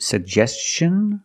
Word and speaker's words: suggestion: Is it suggestion or suggestion? That's right, it's suggestion because the T-I-O-N is after an S. Make the hard ch sound like chicken.